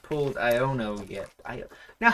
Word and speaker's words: Iono: we have not pulled iono yet now how is that pronounced I I've been pronouncing as i o no because that's phonetically how it is represented I don't I've never